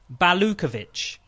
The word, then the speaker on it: Balukovic: It's," and she's written it phonetically for me, it's amazing. Balukovic. But Balu is fine.